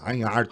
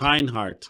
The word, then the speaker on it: Reinhard: Mas a pronúncia, Reinhardt. Reinhardt. Reinhardt.